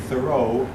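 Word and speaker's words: Thoreau: by a man that whose name almost rhymes with Roso Henry David thoro now thoro was an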